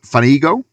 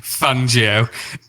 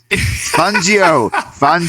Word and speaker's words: Fangio: We've got Vic Fanigo. Is that who he's? Is that I'm really bad at pronouncing names here. So we got Vic Fanigo. not at all. You need to stop. It's Vic Fangio. Fangio.